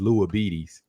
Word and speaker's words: Lua Beatties: But real quick to the chat, I said my man's name wrong. You're gonna like this, guys. His name is Lua Beatties.